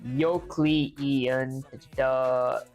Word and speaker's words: Euclidean: Euclidean, like you plus killed iron.